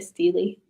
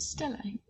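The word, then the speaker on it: stele: I say it wrong. I call it a Steely. It's a Stelly.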